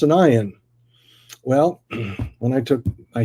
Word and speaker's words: ayin: And how do you pronounce an ayin? Well, when I took my Hebrew class, I was told that most Hebrew speakers don't know how to pronounce the ayin. It's a silent letter, unless you learned Hebrew, or your Hebrew sounds from Arabic.